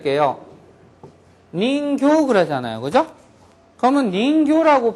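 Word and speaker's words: 人形: 그것은 인형이다, 내 인형이다 이럴 때 할 때는 닌교라고 길게 발음을 해줘야지 됩니다.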